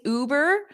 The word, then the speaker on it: Uber: and you can replace Uber with whatever you want so first of all repeat that ooh Uber so you have that long ooh it's not U it's not the letter U it's o ooh Isaac I'm so glad